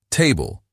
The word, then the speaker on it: Table: Table, stress on the first syllable.